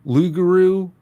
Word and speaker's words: loup-garou: Well, as far as French dogmen go, some people call them Loup-garou with a silent P.